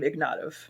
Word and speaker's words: Ignatov: ignatov to Nicholas ignatau we still pronounce our name ignatov um but it's not spelled like that so that's interesting start